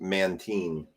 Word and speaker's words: Mantine: Jordan said that it's pronounced Mantine.